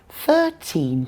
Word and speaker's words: thirteen: If we're counting, the stress is on the first syllable. We want to distinguish between the numbers, so we stress the part that's different. That's the first syllable. Okay, now what if the number comes in front of a noun? Where's the stress? For example, 13 people, 14 years, $15. The stress is on the first syllable again.